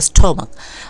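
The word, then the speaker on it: stomach: ওন্ন turn someone else স্টমাক ঠিক আছে এটা উচ্চারণ হচ্ছে স্টমাক আচ্ছা দেখো অলওয়েজ ইট ইউর ফুড তোমার খাবারগুলো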